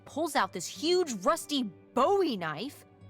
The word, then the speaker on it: Bowie knife: no warning, he pulls out this huge rusty Bowie knife. It's actually pronounced Bowie. What? No, it's like the last name, like David Bowie. Different last name. Bowie.